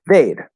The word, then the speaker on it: they'd: The pronunciation of these don't usually reduce. Weed doesn't really become wid. Like this is just weird. So we're gonna use the full pronunciation of the word we, they, he, whatever, and then just put a D sound at the end.